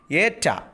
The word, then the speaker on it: eta: Eta is like H in English. So it is in Greek capital, eta means A sound is H, A sound, okay, A sound.